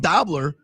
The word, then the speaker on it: Dobler: Now, listen, maybe with a name like Dobler that rhymes with gobbler, you should have more respect for the Thanksgiving take.